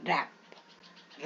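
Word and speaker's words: wrap: कब साइलेंट होता है यदि डब्लू और आर इकट्ठे हो है ना और डब्लू के पहले तो डब्लू को साइलेंट करते देखो डब्लू और आर इकट्ठे हैं डब्लू और आर इकट्ठे रैप तो इसमें डब्लू साइ हो जाएगा रैप रंग रंग यदि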